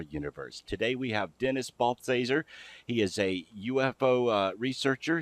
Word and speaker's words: Balthaser: You notice I'm not using your last name again because I don't want to mispronounce it. It's Balthaser.